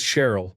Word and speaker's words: Cheryl: Her name is Cheryl, pronounced like terrible. Story 84.